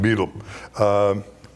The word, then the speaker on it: Beedle: So there's a variety of different ways the name is spelled, but he is William Beetle.